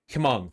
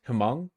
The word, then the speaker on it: Hmong: Don't pronounce the H, just Hmong?